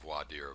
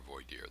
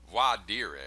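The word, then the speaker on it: voir dire: now as I said you can pronounce it how you like um you know you can you can hear very funny pronunciations I don't know if you've ever seen the movie my cousin Vinnie um you've got a southern prosecutor who use uses why Deere I believe he he says it's pretty colorful and I've heard people pronounce it all different types of ways but it it's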